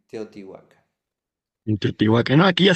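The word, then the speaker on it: Teotihuacán: A ver qué qué podríamos buscar como Pero sí, el sexto y séptimo centro lo podemos ubicar en ¿Cómo se pronuncie? Teotuaca. Teotihuaca.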